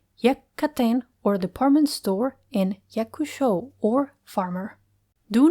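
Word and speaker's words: 百: The own reading is yaku. The example is yaku or 100. Yaken or department store and yakush show or farmer.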